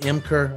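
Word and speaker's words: Ymker: got in the in the bullpen area Logan emker uh is spelled y-m-k-e-r so uh we pronounce it emker and he is um he was a back-to-back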